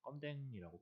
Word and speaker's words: 검댕: 여기 보이는 거는 우리가 이해를 하기로는 미세먼지가 이렇게 시커멓게 나오는구나 라고 정확히 얘기하면 검댕이라고 해서 껌댕이라고 발음을 하는데 그 석유가 제대로 불완전 연소를 했을 때 나오는 거예요.